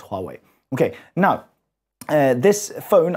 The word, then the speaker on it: Huawei: this one here is a Huawei or Huawei you might pronounce it as but we teach Chinese here so we pronounce it as Huawei okay now uh this